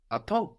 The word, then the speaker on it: à temps: On time in French is attends, attends. Attends. This is spelled as if, if you were to read it as if it were English, a temps. Temps.